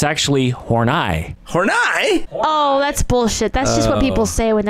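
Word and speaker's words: Horney: the name of Karen horai and I was referring to her as Horne the entire time and uh now I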